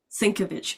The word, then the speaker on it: Sienkiewicz: Sienkiewicz.